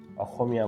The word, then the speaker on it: অসমীয়া: Assamese বলে, কিন্তু মানে যারা অ্যাসামিস লোক তারা অসমীয়া বলে উচ্চারণ করে, তাদের স্বটা খর মতো উচ্চারণ হয়, একদম সম্পূর্ণ খ হয় না, কিন্তু তার কাছাকাছি কিছু একটা উচ্চারণ হয়, যেটা মাঝে মাঝে আমারও